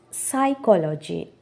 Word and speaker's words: psychology: Psychology.